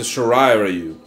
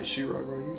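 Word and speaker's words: Shirai Ryu: shiru ninja clans are anent B you better pronounce that right it's the sharai rayu I thought Shir shiru Shir rayu sh Ru yeah that my bad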